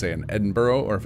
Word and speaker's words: Edinburgh: How would you pronounce uh Edinburgh? That's how you say that one, right? Cuz I know that one in American looks like Edinburg, but I don't think it's actually said that way as all at all.